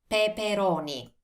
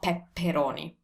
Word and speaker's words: peperoni: patate patate bell peppers peperoni peperoni now have a look at this first of all it's spelled with only one p pe peroni so it's not pepperoni and second i know